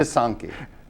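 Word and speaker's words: pysanky: Of course, everyone recognizes the pisanki, the famous Ukrainian Easter eggs, but the Thank you for, would you pronounce that again, Walt? pisanki.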